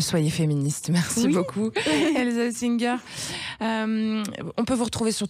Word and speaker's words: Oesinger: Merci beaucoup, Elsa Singer.